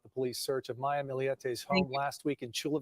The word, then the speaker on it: Millete: warrant on the home see he said miliete that's how I've been pronouncing it and I and and